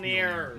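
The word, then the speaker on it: Mjölnir: Boomstick, come on, by this point you know it's pronounced Mjolnir.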